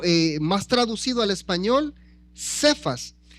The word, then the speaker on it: Cefas: Entonces, algunas veces en los escritos en el Nuevo Testamento usted va a encontrar que dice Cefas que su pronunciación del arameo sería aproximadamente como quefas. o algo así significa piedra en arameo.